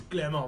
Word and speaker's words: Clermont: By, Is it pronounced Clermont? I think it's Clermont. It's Clermont. Welcome to Clermont.